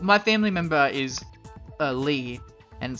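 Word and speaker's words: Leigh: family member is a Lee and spelled the same way unfortunately l-e-i-g-h and yeah it's but it's pronounced Lee l-e-e not l-a-y but lay okay I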